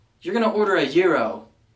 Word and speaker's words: gyro: going to order a Euro not gyro let's be fancy people it's not a gyroscope or anything like that this is actually a foreign word intended to be pronounced as such number 20 Library not